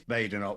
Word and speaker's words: Badenoch: It's Badenoch. We'll go with what you say. Though I have a theory that certain people mispronounce it on purpose just to annoy her, but that's maybe just a sidebar activity.